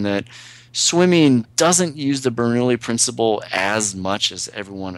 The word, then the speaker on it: Bernoulli: You have to correct my pronunciation. The Bernoulli principle. Bernoulli.